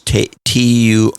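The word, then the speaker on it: Türkiye: And people are very slowly moving over to the correct pronunciation and spelling, which is Turkiye.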